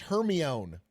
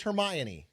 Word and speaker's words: Hermione: That's like when I read all the Harry Potter books and I thought it was pronounced her own. Okay, it's Hermione.